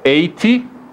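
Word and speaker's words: eight: E se for 80, já não tem nada a ver, né? Já é 80. Então convém saber os números. Só para relembrar. 8, GH é mudo.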